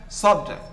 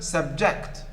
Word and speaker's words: subject: The next, as a noun, subject. As a verb, subject.